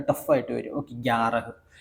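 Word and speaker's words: ग्यारह: ആയിട്ട് ആയിട്ട് വരും ഓക്കേ ഗ്യാറഹ് ഗ്യാറഹ് ഗ്യാറഹ് ഇതേ എല്ലാത്തിനും ഹ ഹ ഹ എന്ന് അവസാനം വരും ഈ രണ്ട് അക്ഷരം ഒഴികെ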